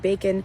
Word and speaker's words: bacon: so we the the if we take the word bacon the stress is on Bay and then unstressed part of the word bacon is so the O in bacon is actually the schwa and pilot is another